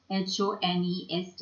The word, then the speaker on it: honest: when what okay and h o n e s t is honest h is silent okay now let's look